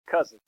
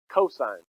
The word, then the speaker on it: cosine: do you say this cosine not cousin cosine okay you got sine you got cosine and then this is when i go to the beach tan gentlemen all right tangent okay so sine cosine tangent uh those are